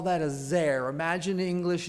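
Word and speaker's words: זר: In Hebrew, we call that a zer. Imagine in English it's spelled Z-E-R.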